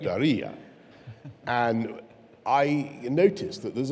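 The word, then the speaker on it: Diriyah: Correct, Daria.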